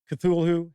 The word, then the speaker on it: Cthulhu: Cthulhu, Haster, Nyarlathotep. Okay, so that's how I pronounce these.